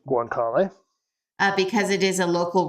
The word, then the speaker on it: guanciale: Over time, Italians swapped the bacon for, how do you pronounce it? Guanciale? Guanciale.